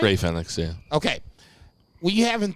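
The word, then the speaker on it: Rey Fénix: Ray Phoenix, yeah.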